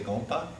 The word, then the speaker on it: gompa: Say gompa.